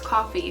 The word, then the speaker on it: Coffey: and he is called john coffey coffee and pronounced as coffee he is a man